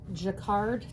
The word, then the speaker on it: Jacquard: um the shading go a little more it's pronounced Jacquard textile color it's 100 number 100 colorless extender